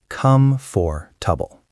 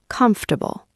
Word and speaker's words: comfortable: Most people say, come for trouble. But natural pronunciation is closer to comfortable. You drop some sounds.